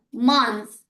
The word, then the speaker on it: month: And this one moon, month.